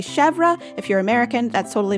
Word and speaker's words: Chevre: Again, we're missing accent marks for context, so we have 2 syllables in the name. We have che with the accent grave over the E, which makes the E sound open, and then we have V-R-E, Chevre, and the first syllable of the name is probably the most accented syllable, with the end of the name, the vre, syllable at the end being the unstressed syllable.